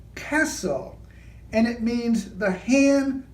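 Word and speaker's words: כסיל: And then Orion is Kessel, and it means the hand that supports and controls.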